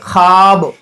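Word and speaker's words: خواب: इसकी मिसाल है जैसे ख्वाब। इस लफ्ज़ में वाव साइलेंट है, हम इसको ख्वाब नहीं पढ़ेंगे, बल्कि हम इसको पढ़ेंगे ख्वाब।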